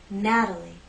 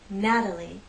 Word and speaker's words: Natalie: In this name, we have three syllables, and it's the first syllable that's stressed, Natalie, Natalie. The T is part of an unstressed syllable, so we use the flap T.